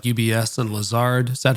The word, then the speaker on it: Lazard: So you worked at major financial institutions like UBS and Lazard. Is that how you pronounce it? Lazard?